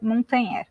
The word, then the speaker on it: Montagnier: Então eu tenho Montagnier, se escreve Montagnier, mas a pronúncia, que é um nome francês, é Montagnier.